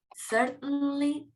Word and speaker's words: certainly: So we say certainly, like mountain or fountain.